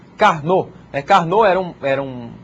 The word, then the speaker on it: Karnaugh: de carn esse nome esquisito aí a gente pronuncia carn carn era um era um estudioso matemático que